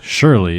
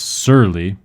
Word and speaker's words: surly: spelled su r ly it's not to be confused with surely it is sir Lee su r ly and